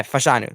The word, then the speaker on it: Fashanu: fashanu is that he pron his name U fashanu okay fashanu that's how you're going to say the guy's